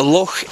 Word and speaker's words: loch: Oh, well, for any of you that aren't from Scotland or English, a loch is the Scottish term for a lake. L-O-C-H, and you pronounce it loch.